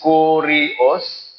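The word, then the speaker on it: κύριος: Ang Lord sila time is, may pronounce is Kurios, sa Greek niya, meaning supreme authority, supreme master, supreme Lord.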